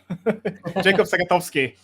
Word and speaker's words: Jakob Sagatowski: You actually pronounced it quite well. Jakob Sagatowski.